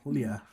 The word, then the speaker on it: Julia: much pointed out that Julia, prefers that pronunciation of her name, Julia. And so when Mr. Ingman, she writes, he always says my name exactly how I pronounce it, the Spanish way.